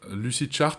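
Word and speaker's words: Lucidchart: effectivement payer le 4è outil c'est lucid chard lucid chart ça s'écrit l u C i D C H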